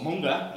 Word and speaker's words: manga: comics, or manga as it should be pronounced.